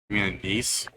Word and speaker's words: anise: And I and I an anes spend like the next 20 minutes trying to pronounce anacey. What? The actual flavor of black licorice is an Oh, anise.